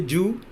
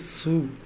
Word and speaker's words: zoo: Commonly, you say Jew, but the correct pronunciation of this word is Zoo. Heavy sound S.